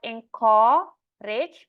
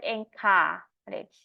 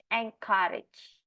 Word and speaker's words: encourage: to bore your audience encourage this is not encor rich but encourage encourage yeah and then the next one is not pronunciation problem but the stress problem so it's